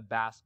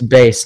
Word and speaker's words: bass: You're gonna get a bass guitar. May I have guitar. I don't know how to pronounce it. So. It's bass, not bass.